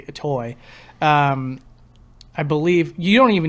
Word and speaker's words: Itoi: I think it's actually accurately pronounced Itui or something like that, even though I like to say Itoi.